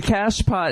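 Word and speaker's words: cachepot: The cash pot, it's spelled C-A-C-H-E. I guess it's French.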